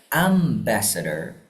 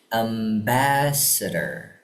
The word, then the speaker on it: ambassador: Jadi bukan ambassador, bukan am bukan di-nya ambassador tapi ambassador. Ambassador.